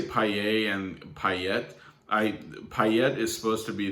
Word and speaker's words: Payet: I think normally his name, like correctly in France, would be spelled Payette, and that would make you definitely pronounce the T.